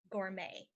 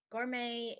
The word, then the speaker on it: gourmet: to help you remember mr. Al Gore may like gourmet food mr.